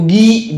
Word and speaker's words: Guy: namanya Guy, tulisannya Guy kan bacanya Guy kan, Guy de Lusignan.